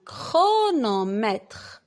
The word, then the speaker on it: chronomètre: alors un orchestre une chorale une chorale un chronomètre un chronomètre chloé est à l'école technique chloé